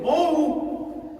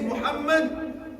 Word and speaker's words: Muhammad: sallallahu alayhi wa sallam and to call it Mo, astaghfirullah. At least in my opinion, that's absolutely unacceptable. Anybody's name is Muhammad, astaghfirullah, many even our youngsters, Muhammad.